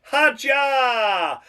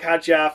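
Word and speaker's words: Hadjar: It's Isaac Haja and as Harry Benjamin said, Isaac Haja.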